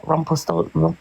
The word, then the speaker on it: Rumpelstiltskin: Rumpelstiltskin.